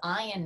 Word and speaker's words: Ian: And I know he is not a fan when I say this, but his name is Ian, not Ian, even though it's spelled I-A-N.